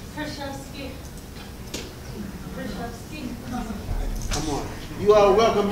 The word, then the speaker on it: Kruszewski: Kruszewski. Come on. You are welcome here to the stage. Yay. Victoria. Yeah. Kruszewski.